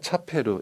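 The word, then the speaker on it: チャペル: 자, 이곳은 역사, 레키시가 느껴지는 무슨 분위기의 혼모노 진짜 교회로 결혼식용의 차페르, 우리식으로는 채플이라고 발음하죠.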